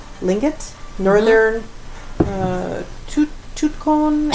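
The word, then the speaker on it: Tlingit: how do you always say this uh not pronounced t t l i n g t lingot nor uh to toot con and Norwegian ancestry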